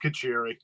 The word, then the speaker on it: Kacheri: I need to know my last name's so Italian you go a gargle with marinara to say it right it's it's just kacheri there you go you